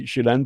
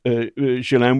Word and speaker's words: Ghislaine: And so I understand why Jillen, by the way, I call there's an argument about how to pronounce it. Jalen is the American trans pronunciation. We heard that it was Jillen, which I stick with.